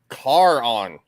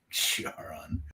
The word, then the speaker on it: Charon: Like I think it comes down to like one is the initial pronunciation, the way the Greeks would say it, and then the other is the anglicized way, like the way that the English or the French would say it.